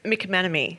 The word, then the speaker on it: McManamey: It is McManamy.